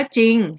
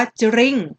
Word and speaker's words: จริง: จอ รอ นะ คะ ไม่ ออก เสียง ร เรือ นะ คะ เช่น คำ นี้ คำ ว่า จริง เรา ไม่ อ่าน ว่า จะ ลิงค์ ใช่ ไหม คะ เรา